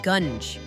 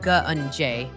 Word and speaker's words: gunge: So Locke is saying I'm pronouncing gungi wrong, says it's gunge. Well, then why does it have an E at the end? Locke. It looks like gungi. Ugh, whatever, primordial gunj.